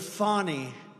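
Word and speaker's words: Fani: been destroyed because of fonnie f a n i fny you have to pronounce it fonnie it's called Fanny you have to pronounce fny I don't know how she go she should add a little u in there someplace if she wants people to call her now her and her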